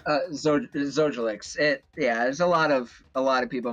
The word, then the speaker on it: Zojalyx: Well, Zojalyx, how do you pronounce that name? Zojalyx.